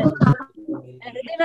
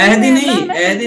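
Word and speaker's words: اهدنا: ہاں، اہدنا الصراط المستقیم، اہدی نہیں، اہدنا الصراط المستقیم۔ آپ تلفظ صحیح کیجئے گا اپنا۔ اہدنا الصراط المستقیم، جی،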